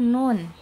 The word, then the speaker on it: ن: Kita ke pelafalan huruf nun. Dibuka pada saat harokatnya fathah, na, ni, nu. Ya, ke makhrajnya dulu, tempelkan ujung lidah ke gusi, ke dekat gusi, nu, ya, baru ke harokat.